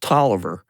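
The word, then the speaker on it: Taliaferro: A F E R R O, but it's pronounced Toiver.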